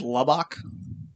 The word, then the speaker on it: Lubbock: Lubbock.